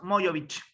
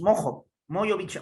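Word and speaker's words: Mojović: Mojovic. Cuéntame, ¿estás ahí? Te fuiste a tomar desayuno. Todo claro. Es Mojovic, o sea, como J se pronuncia.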